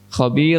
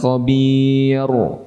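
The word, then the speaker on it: خبير: Huruf "ra" dibaca sebagai " khabir". Apakah dibaca tebal atau tipis? Kurus , ya. Tipis. Jadi jangan dibaca sebagai " khabir". "Khabir" adalah pengucapan yang salah .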